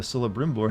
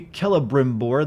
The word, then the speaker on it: Celebrimbor: If they wanted to be Celebrimbor, they should have put a fucking K in his name, not a C. I don't care how Celtic they wanted it to look.